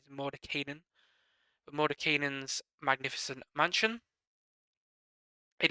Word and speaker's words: Mordenkainen: talking about and that's Mor Kanan guess the correct pronunciation is mod Kanan mod kanan's magnificent Mansion